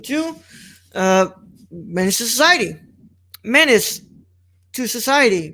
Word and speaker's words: Menace II Society: let's introduce them to uh manage the society menace to society pronounced minister society it's spelled menace with the the